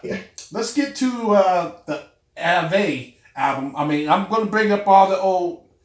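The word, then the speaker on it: Avé: So the Ave, I'm trying to pronounce it right, Ave. brother. Ave.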